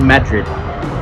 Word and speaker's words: Madrid: So goes to a town called Los Cerrillos and another town called Madrid, which is spelled Madrid, but apparently it said Madrid.